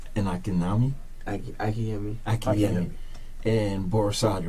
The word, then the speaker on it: Borisade: You pronounce it Akinyemi? AKINYEMI. AKINYEMI. MI. Okay. And Akinyemi? Akinyemi. Akinyemi. And Borisade, right?